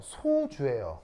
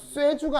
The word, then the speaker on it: 소주: 그래서 소주는 발음도 소주가 아니고요. 소주예요. 소주 연소라고 하나요? 아니요. 연소죠. 소각소 소각 아니 소주잖아. 소각이잖아요. 그 소주도 소각 쇠주가 아니고요. 발음도 소주예요.